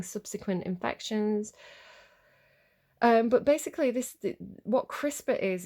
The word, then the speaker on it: CRISPR: CRISPR. So it's spelled like crisps. Like if you're in the UK, like Walker's Crisps, it's spelled like crisp with a R on the end.